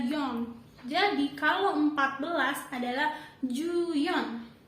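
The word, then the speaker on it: よん: Nana kalau untuk empat angka 4 di atas 10 itu dibacanya adalah John Jadi kalau 14 adalah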